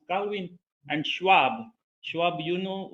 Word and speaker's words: Calvin: So you may pronounce him Kevin or something, but we pronounce Calvin.